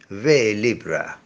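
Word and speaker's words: vers libre: verse free verse is also known as verse libra or as the french pronounce it vey libra if the given piece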